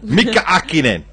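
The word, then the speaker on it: Häkkinen: Mika Hakkinen.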